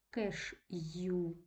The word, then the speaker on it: кеш'ю: і ми з вами Коли вимовляємо це слово чітко чуємо що звучить її у кеш'ю ю бювет апостроф не